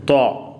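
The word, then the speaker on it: ط: ഇത് ത്വാ, ടി ഡബ്ല്യു എ, ഇതെങ്ങനെ ഉച്ചരിക്കും? ത്വാ, ത്വാ. അടുത്ത അക്ഷരത്തിന് മുകളിലൊരു പുള്ളിയുണ്ട്, അത് ലോയാണ്, ലോദ് പോലെയാണ്.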